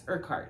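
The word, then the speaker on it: Urquhart: the ren by Elena art I think is how you say it I did look it up yeah um it's yeah it's urart it's kind of an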